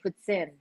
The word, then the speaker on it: poutine: You have to say it properly. Poutine.